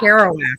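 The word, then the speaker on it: Kerouac: one Jack's house I don't know how to pronounce that author's last name carow kowak kowak okay I didn't want to take a stab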